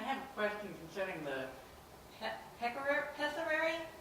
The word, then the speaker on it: pessary: I have a question concerning the pessary. How do you pronounce that, number 4? Pessiary?